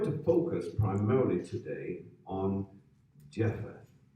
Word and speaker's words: Japheth: Now, we're going to focus primarily today on Japheth, or as it would be pronounced back in those days as Japhat.